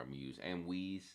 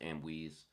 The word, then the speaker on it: Amwese: Or I keep calling her Amuse. Amwese. It's pronounced Amwese.